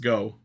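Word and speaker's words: 五: so the 50 in all these weapons is pronounced go so Leon Buster go oh really is that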